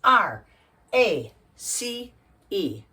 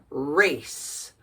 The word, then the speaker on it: race: our first word is r a c e that's pronounced race race the E makes the a say its name because of the magic e rule okay so the long